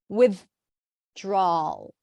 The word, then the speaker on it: withdrawal: with like this with you're kind of like pronouncing the th and then you're blocking the th by pressing it against the teeth pressing the tongue against